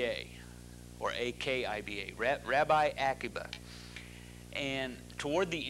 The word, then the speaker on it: Akiba: name of rabbi acuba sometimes you'll see it spelled with a k a q i b a or AK IBA Rabbi Akiba and toward the end of the